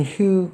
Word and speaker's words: Hugh: GH는 이제 묵음 처리가 거의 되기 때문에 휴라고 있는 것 같다. When Hugh got home late.